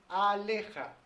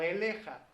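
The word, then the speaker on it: עליך: Y para que diga sobre ti, tendría que decir aleja, no eleja, aleja.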